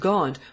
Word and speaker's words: Gaunt: as John of gaun this word gaunt was the nearest approach that the English people could make in those days bed to the pronunciation of the word gent the name of the town where John was born for King Edward in